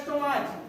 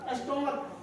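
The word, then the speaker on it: stomach: जैसे स्टोमच, स्टोमक क्या होता है? स्टमक बोलते हैं इसको।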